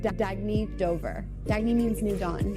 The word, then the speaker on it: Dagny: Oh, it's pronounced Dagny Dover.